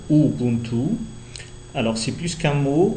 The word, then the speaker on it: Ubuntu: socio linguisto culturel plutôt donc Ubuntu on le prononce Ubuntu alors c'est plus qu'un